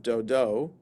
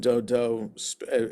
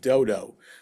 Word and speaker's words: Dodo: Puah, the son of Dodo, a man of Yisachar. I said Dodo with that emphasis on that syllable, just so that we don't read it the English way and think dodo.